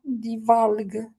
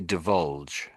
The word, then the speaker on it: divulge: But can you pronounce the word that's on the screen though? Divulgue, divalgue, Yeah, that's what I'm trying to get you to do. Yes. So when we say this word, we say divulge.